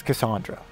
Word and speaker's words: Cassandra: Although I may still call Cassandra, because I'm from the West Coast. I'm just used to pronunciating A's that way, but it is Cassandra, according to Announcer Man.